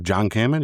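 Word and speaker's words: John-Kamen: Main cast was good old Paul Rudd, Evangeline Lilly, Michael Douglas, Michelle Pfeiffer, Michael Pena, Hannah John Kamen, right? That's how you say it. Yep. John Kamen, yep.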